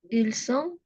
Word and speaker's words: ils sont: No pronuncia la T final.